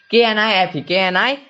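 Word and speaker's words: knife: उसे नहीं हुआ है नाइफ नाइफ तो यहां पे एन एन के ठीक पहले के है तो नाइफ नाइफ का उसे हुआ है ना की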